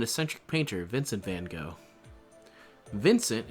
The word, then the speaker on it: Vincent: Vincent is also pronounced a little differently in Dutch, but I'll stick with the English pronunciation here since that's the one, you know.